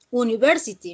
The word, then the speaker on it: university: Entonces, la U no se coloca, no se pronuncia university, no. University y esa es llamada ya, ¿sí? Entonces, como la pronunciación se empieza con ya, que ya sería consonante